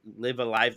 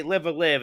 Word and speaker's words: Live A Live: a way dr butter is pronounced live alive look i used to say live or live and then i got bullied into saying live alive and now i say